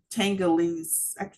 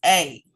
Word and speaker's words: telangiectasias: talk about blood vessels, I can't pronounce this word, but I'm going to do a pronunciation. I think it's Tangolese. Every time I get to this word, I have a tongue tie, but it is Telangiectasias.